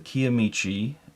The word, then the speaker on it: Kiamichi: It's the Kiamichi limited release.